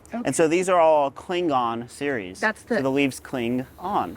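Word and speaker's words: Klingon: am I that right I always have to make sure I pronunciate the G otherwise I'm a star a Star Trek fan and I do love St Trek so cling on very cool yeah what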